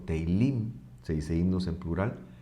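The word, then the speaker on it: תהילים: Se dice teilá o teilim, se dice himnos en plural.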